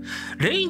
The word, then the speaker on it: Re:in: ゆめにっき派生ゲーム rain と読むらしいですねりぃんだと思ってましたけどはいが異性